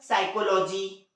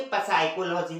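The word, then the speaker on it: psychology: साइकोलॉजी, ये साइकोलॉजी की spelling यहाँ से चालू होती है P से, पढ़ना क्या चाहिए था उसे, पसाइकोलॉजी, लेकिन पसाइकोलॉजी पढ़ते हैं नहीं, क्या पढ़ते हैं, साइकोलॉजी।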